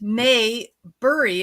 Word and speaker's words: Maybury: It's actually, if you read it, Maybury is actually pronounced exactly the way it is spelled, but people get confused with that Opie and Andy show, I think in the 1960s.